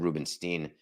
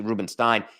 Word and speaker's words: Rubenstein: as in David Rubenstein I may have mispronounced his name yesterday I may have said Rubenstein I have a I have a cousin the Rubenstein I may have called him Rubenstein but it's actually Rubenstein David Rubenstein has bought